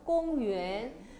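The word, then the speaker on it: 公园: 중국어 발음 어떻게 해요? 꽁유엔.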